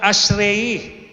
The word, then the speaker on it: Ashrei: Ito pong ating binasa kanina sa mga Jew ay kanila pong tatlong beses kada araw binibigkas itong kabanata na to na ang prayer po nila ay tinatawag na ashrei a s h a r e i.